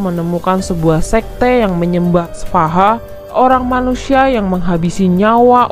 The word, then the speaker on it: Svaha: Tulisannya SVAHA. Bacanya sih gue udah cari-cari, pokoknya bacanya semua kayak Svaha gitu.